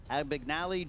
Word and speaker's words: Abagnale: about Titanic what film did Leonardo called Frank Abagnale jr. that's the pronunciation of the character's name who plays fisherman